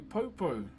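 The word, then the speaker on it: poupou: So this is a popo. P O U P O U is how you spell it.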